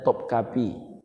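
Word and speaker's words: Topkapı: Kalau kita pergi ke istana Topkapi, Istanbul, Turki, bacanya Topkapi, bacanya tulisannya Topkapi, bacanya Topkapi.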